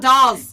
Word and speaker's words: Dallas: So to me, no, Dallas, Oregon. Well, somebody's probably listening there. You're like, it's called Dolls.